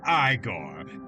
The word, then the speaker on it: Igor: I I I could I could relate to George in a in a lot of ways vampire Eigor. It's pronounced Igore.